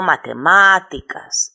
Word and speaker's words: matemáticas: Por ejemplo, matemáticas. Yo digo matemáticas en la antepenúltima sílaba.